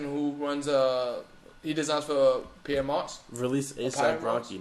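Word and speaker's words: Pyer Moss: It's Pierre Moss. I've heard people say it like that. I always just say Pyre.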